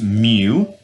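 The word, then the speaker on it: μ: little letter here case this is the Greek letter pronounced Moo okay um and now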